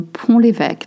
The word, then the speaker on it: Pont-l'Évêque: Le Pont-l'Évêque, not Pont, okay, le Pont-l'Évêque, that's the way we pronounce it. Pont-l'Évêque, it's actually a city and I grew up not too far from it.